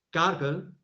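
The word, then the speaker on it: Cargill: dicho antes que se escribe cargil y se pronuncia cargel de Minnesota es scargel mcmillen eh opera en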